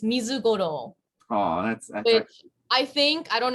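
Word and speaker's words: ミズゴロウ: in uh it's og is it um it's mizugoro oh i think i don't know if it's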